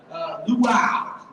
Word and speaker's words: luau: Oh my gosh, I said it wrong about 1,000 people. My bad, guys. Luau, luau.